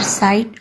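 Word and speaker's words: saw: तो इसको कहते हैं इर्रेगुलर साइट वर्ड्स। जिस तरह ये सौ है, सौ, अगर हम इसकी सही प्रोनाउंसिएशन करेंगे तो ये सा नहीं है, सौ।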